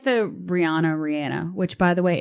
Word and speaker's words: Rihanna: Blue makes sure to correct me every time I say Rihanna. He's like, it's Rihanna. She said so herself. So out of respect for Rihanna, I'm going to say it like that from now on.